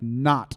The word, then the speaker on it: knot: in this next poem not is spelled like k-n-o-t like not like a knot that you tie not as in i am